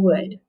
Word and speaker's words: would: heart above that and then this word has a silent l so i'm gonna put